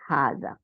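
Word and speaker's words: هذا: তাইলে এখন কি হলো হাদা বাট ইট is written without the fast আলিফ তাইলে উচ্চারণ হবে হাজা এরপরে দুই নম্বরে কি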